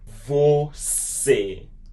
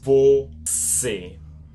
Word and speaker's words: você: Você. It makes it more like an E sound because of the accent. Você. Você.